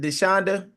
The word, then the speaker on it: Deshonda: um and is it Deshonda? Did I say that right? You are saying it right.